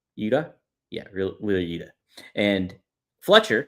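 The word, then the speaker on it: Yuta: Well, I did take note of how uh Wheeler Utah and I know I'm saying it wrong. Uda.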